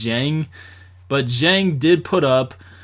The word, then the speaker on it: Dieng: jang that dang it's spelled dang but is pronounced jang but jang did put up quite a few